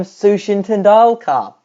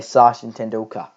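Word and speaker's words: Sachin Tendulkar: nor I remember that he mispronounced Sant tulka's name he called him Sushin tala Donald Trump hey gosh this brings me back to what I remember suan tala wrongly pronounced you actually say sash in tenda how remember that that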